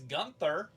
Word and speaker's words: Gunther: Hey, it's Gunther. Because I live in America and G-U-N is gun, not goon.